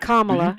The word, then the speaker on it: Kamala: So after Kamala Harris is elected president, Kamala rhymes with Mamala.